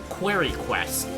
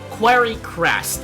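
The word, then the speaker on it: Quarrycrest: over here in Clifflands in a town called Quiry Quest. I keep Quiry Crest. I keep pronouncing it uh incorrectly.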